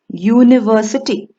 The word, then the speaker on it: university: look at these words university though this word begins with the u which is a vowel it does not produce the r sound instead it produces the y-o-u-u sound hence we use the